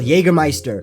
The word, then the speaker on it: Jägermeister: Very similar to how, you know that beverage, the alcohol, Jägermeister? It's spelt with a J, but it's pronounced with a Y.